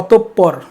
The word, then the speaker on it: অতঃপর: অতঃপর, এটার উচ্চারণ হচ্ছে অতঃপর, বানানটা শুদ্ধ এখানে, অতঃপর, বানানটার যদি অতঃপর এবং উচ্চারণ অতঃপর।